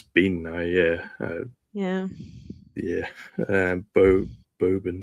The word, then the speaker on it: bean-nighe: names, so I'm going to butcher it, uh Bean-Nighe, I think. And uh Bean-Nighe, yeah. It's It's pronounced Bean-Nighe, yeah.